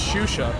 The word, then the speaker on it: Shusha: And remember, the canonical pronunciation is Shusha, and it's thanks to that promotional video from Intel that we know this.